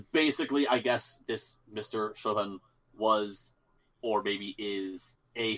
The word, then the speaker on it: Chuvin: Songs for Pierre Chuvin, I guess is how he would say his name. Chuvin.